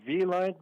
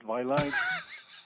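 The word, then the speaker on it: Vielight: It is actually V-Lite, but you can get away with Vilite. V actually stands for life in French. That's why we have V-I-E.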